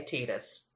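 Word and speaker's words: Tidus: my Inc Caporal self compel me to say Titus well I mean I guess I just I played Kingdom Hearts and I played desidia and those they say tetus I know they do they're correct because it's their character however no you know speaking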